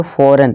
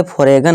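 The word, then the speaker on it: foreign: जैसे देखिए यहाँ पे फॉरेन, इसे फॉरेगन नहीं पढ़ते, फॉरेन पढ़ेंगे।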